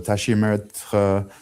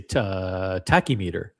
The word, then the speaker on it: tachymetre: So in the United States, we would say tachymeter. He says tachymeter. I added also there's a tachymetre on the dial. Tachymetre. Wow, I didn't know that's how you said it in French.